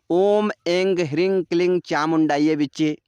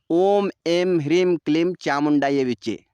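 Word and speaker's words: ॐ ऐं ह्रीं क्लीं चामुण्डायै विच्चे: सही उच्चारण क्या है तो ध्यान से सुनिए बहुत से लोग इस मंत्र का उच्चारण इस तरह करते हैं ओम एंग रिंग क्लिंग चामुंडा बचे और बहुत से लोग इस मंत्र का उच्चारण इस तरह करते हैं ओम एम ह्रीम क्लिम चामुंडा विचे तो मैं आपको यह बताना चाहता हूं कि यह दोनों ही उच्चारण एकदम सही और सटीक है चाहे आप ग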